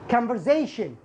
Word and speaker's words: conversation: البعض يجدها طويلة فقم بتقسيمها إلى قسمين. كامفر هذا جزء. كامفر زي شن. زي شن الأربع الحروف هذه ينطق شن. إذن كامفر زي شن. كامفر زي شن. كامفر زي شن. عشان كذا بتسمعها بشكل سريع فتجدها صعبة عند بعض الطلاب. conversation conversation.